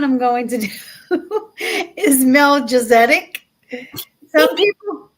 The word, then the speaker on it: Melchizedek: Some people pronounce it Melchizedek. I pronounce it Melchizedek because that's what they say on Google.